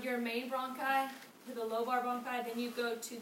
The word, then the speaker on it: lobar: And then we go to the lobular, or lobar, I always add extra syllables, bronchi.